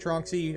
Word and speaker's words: Tronxy: here this is the trunksy x or trunksy tron xy trunksy how we pronounce it crux one uh it's